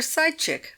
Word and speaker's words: psychic: "You go in for psychic photography." "Psychic," said Baumgartner, for the public schoolboy, one regrets to report, had pronounced the word to rhyme with sly chick.